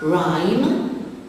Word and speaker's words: rhyme: Rhyme, the silent letter is the H after the R.